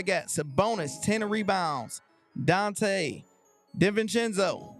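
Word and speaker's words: DiVincenzo: this what I got sabonis 10 rebounds Dante Dev venzo say it right d venzo 15 points and we got Josh Hart eight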